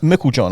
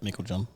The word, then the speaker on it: Meiklejohn: it yes M Mel John am I pronouncing it right yep Mel John Mel John introduce